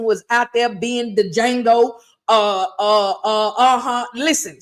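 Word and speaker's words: Django: out there being the D Jango uh uh uh uhhuh listen so everything was going on listen it was D Jango the D is silent uhhuh so they were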